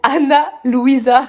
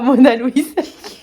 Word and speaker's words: Ana Luisa: Anna Louisa, pas Mona Louise.